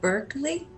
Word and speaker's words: Berkeley: Berkeley?